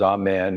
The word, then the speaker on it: Amen: The contract is signed by saying the word Amen, which is Amen in Aramaic pronunciation, Amen, 3 times.